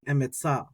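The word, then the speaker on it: אמצא: can do the or most people what they're going to do is just pronounce the sound of the vowel. I think that's probably easiest to do. So this one's going to be something like emetza, emetza, emetza.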